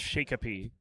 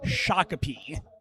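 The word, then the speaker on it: Shakopee: Uh, I I would have to guess Shikapi. So close. That one is pronounced shakapi.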